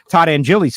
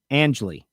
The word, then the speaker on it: Angeli: Angeli, not Angeli. See, I just messed it up right there. It's not Angeli. It's Angeli.